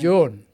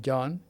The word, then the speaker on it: Joan: And Joan. John. How do you pronounce it? John. She's a woman. She's a woman. Joan. Not John.